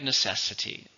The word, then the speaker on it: necessity: noun and it's countable how many syllables in necessity there are four syllables and necessity stresses on the second syllable necessity is the mother